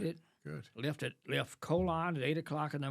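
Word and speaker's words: Colón: Atlantic coast which is called colon c-o-l-o-n pronounced colon and you and I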